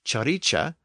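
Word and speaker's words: ciric: Modern English word Rich the word c i r i c pronounced chicha was reinvented with the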